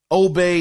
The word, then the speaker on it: Obbe: No, his name is Obey. It's spelled Obbe.